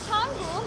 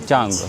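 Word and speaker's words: Canggu: Çangu mu, Cangu mu? Çangu normalde. Çang Çil mi? Ben doğru telaffuz ediyorum. Jangu. Tamam. Bizim için Cu. C ile yazılıyor.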